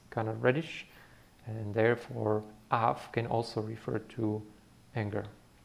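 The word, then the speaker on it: אף: Okay, this would be the f, because there is no dagesh in it. So the sound here would be af. Remember, aleph is a silent letter, and the meaning of af means nose.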